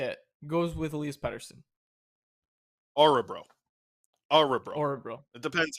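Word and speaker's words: Örebro: want to say it the the o with an umla on it I believe is how you say it it's like a u that's why everyone everyone's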